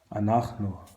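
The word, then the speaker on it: אנחנו: Anachnu.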